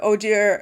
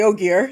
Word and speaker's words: Ogier: It's like, what the heck happened over in Seanchan, where like in the Westlands, the Ogier or the Ogier, you're pronouncing it differently.